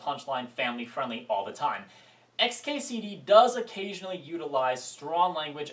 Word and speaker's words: xkcd: epic let's talk about XKCD XKCD spelled and pronounced xkcd if you try to actually pronounce it I think you'll wind up summoning great cthulu is one of the